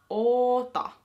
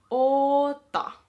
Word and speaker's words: oota: Oota. Oota. Remember to say or pronounce the O a little bit longer just because there's two of them.